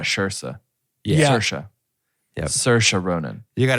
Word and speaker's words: Saoirse: Saoirse. Yep. Saoirse Ronan. You got it right, Tarker. She said when she hosted SNL a few years back, she said, "Remember, it's Saoirse like inertia."